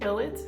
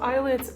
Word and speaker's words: ILLIT: going to be pronounced ellit because that made more sense to me because of like the Double L but they pronounce it like eyelid which is a little bit like weird to me like I need to